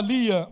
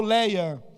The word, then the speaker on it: Lia: E naquele momento entra em cena a irmã mais velha, chamava Lia ou Leia, tanto faz a pronúncia, todos os dois são válidos.